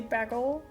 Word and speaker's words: bagel: How do you say bagel? Bagel? Like the A sounds from bad instead of bag.